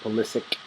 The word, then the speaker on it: Pulisic: So Christian Pulisic will be coming. I believe he likes to pronounce it Pulisic, but he'll be coming with us.